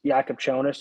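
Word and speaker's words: Jakučionis: Asparis Jakubchonis. Jakubchonis.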